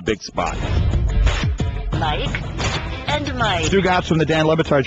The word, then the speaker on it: Stugotz: So, but it is Stugotz. We laugh on our show where I think you, like, it's just one word, Stugotz. And the way you say it, the way you pronounce it in the promos that you did on Friday and stuff, you kind of have it split up where Stu is my first name and Gotz is my last name.